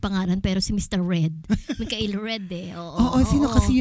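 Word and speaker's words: Mikhail: Ang pronunciation niya is Mikael. Mikael Red.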